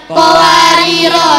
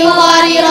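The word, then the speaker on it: قواريرا: Qawariro cara membacanya ada 3. 1. Berhenti di Qawariro ayat 15, rohnya dibaca panjang. Dilanjutkan Qawariro ayat 16, rohnya dibaca pendek.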